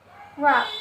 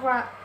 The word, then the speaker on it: wrap: Contohnya adalah wrap, ya, wrap, membuat, ya, membungkus. Jadi W-nya ini di silent.